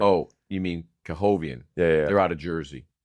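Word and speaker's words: K. Hovnanian: K-Hove, maybe.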